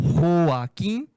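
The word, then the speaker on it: Joaquín: Se pronuncia em espanhol Joaquim, aí se criou o apelido Quino.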